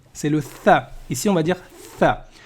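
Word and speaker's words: ث: Bon, alors, le tha ici, là, il se prononce comme en anglais quand on va dire 3.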